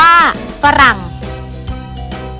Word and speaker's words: ฝรั่ง: ผลิต อ่าน ว่า ผลิต ปรั่ง อ่าน ว่า ฝรั่ง เศวต อ่าน ว่า สวท